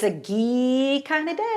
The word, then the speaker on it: ghee: to be talking about ghee it's spelled g h e e and if you don't know what it is we're going to learn hello and hello hi so it rhymes with Glee yes right and I